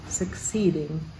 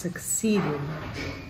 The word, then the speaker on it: succeeding: a grave verse 19 the word suck seeding is three syllables long succeeding and the emphasis is on the middle syllable 6 succeeding now let's talk about